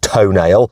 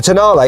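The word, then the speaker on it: Tonale: new alfa romeo toenail yes i know it looks like it's pronounced toenail but it isn't okay i checked with some italians anyway the tanale is smaller than the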